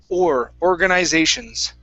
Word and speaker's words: organizations: Don't roll your R. So push your tongue down on the R. Organizations.